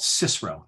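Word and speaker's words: CSIRO: government organization in australia called cicero that's how they pronounce it and they were doing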